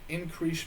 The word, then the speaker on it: Increase: by the name of increase Mather at least I think that's how you pronounce his first name because it is spelled exactly like the word increase but anyway in 1669